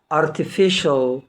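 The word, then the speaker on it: artificial: اوفيشال اوفيشال نخش لباقي الكلمات اللي هي صناعي ارتيفيشال لاحظ الكلمه اللي جايه لذيذ ديليشس ديليشس بعد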